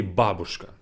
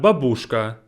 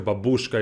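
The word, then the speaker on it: бабушка: go back to babushka make sure you say babushka not babushka babushkan you know in english culture babushka is like the name of the russian grandma but the stress is wrong it's babushka babushka and going back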